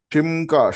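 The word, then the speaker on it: שמך: ആ യോദില്ലേ ആ ആയോദ അത് ഇ എന്ന ഉച്ചാരം വരിയല്ലേ ഈ ഓക്കേ ഓക്കേ ഓക്കേ അത് ഇവിടെ ഷിം എന്നാ കൊടുത്തിരിക്കുന്നേ ഷിം ഷീംക എന്നാ പറയുന്നത് അവിടെ യോദ് വരുമ്പോൾ ഷീം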